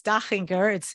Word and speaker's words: Dachinger: Everybody here says Dachinger. It's fine. It has a nice ring to it. But yes, it's Dachinger. It's an Austrian name.